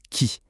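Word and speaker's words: 木: Ça se prononce qui et ça veut dire arbre.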